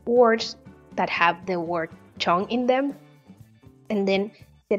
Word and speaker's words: 정: I want to practice words in Korean that have the syllable chong. In romanized, it is spelled as J-E-O-N-G. I will ask you to give me 5 words that have the word chong in them, and then